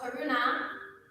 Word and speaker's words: karuna: And so karuna, with a long A at the end there, is compassion towards the